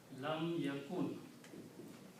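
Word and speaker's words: لم يكن: Waw will say, okay, I'll sacrifice myself to pronounce. So this word will become ya kun. Lam yakun.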